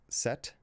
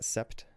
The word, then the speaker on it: sept: Same for the P in. So it's set. Not sept. Cutter.